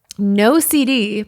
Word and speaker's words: NOCD: NOCD, pronounced NOCD, is the world's leading OCD treatment provider.